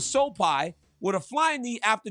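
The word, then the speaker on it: Sopaj: Vinicius Oliveira knocked out Bernardo Sopai. I said I was going to say his name wrong. His name was Sopai with a flying knee after just debilitating leg kicks.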